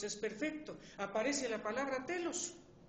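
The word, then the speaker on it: τέλος: En el griego, sin embargo, es más vívido, pues una parte de la palabra tetelestai es la palabra telos. Así se pronuncia en griego.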